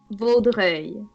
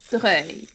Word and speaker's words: Vaudreuil: It's Vaudreuil. Okay. Like V-O, like Vo. Vaudreuil.